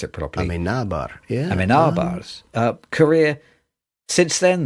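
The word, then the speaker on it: Amenábar: You're going to have to teach me how to pronounce it properly. Amenabar, yeah.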